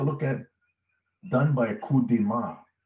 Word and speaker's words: coup de main: Now, they continue to state, this was done by a coup de main, that's how you pronounce it in French, a coup de main of U.S.